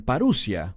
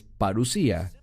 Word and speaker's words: parusía: Algunos la pronuncian paruia, pero es parusía.